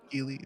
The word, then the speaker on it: Geely: Matilda, this is, Bianca's wondering how you pronounce this again. Geely? Geely, yeah. This is Geely.